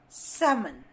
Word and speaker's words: salmon: So whenever you have the vowels A, O, U followed by L, it always stands silent. Like in cough, salmon, chalk, yolk.